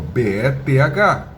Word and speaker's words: Beth: Bet se escreve como B e th. Então o nome dela tem th. O certo seria falar Beth. Beth. Olha a línguazinha.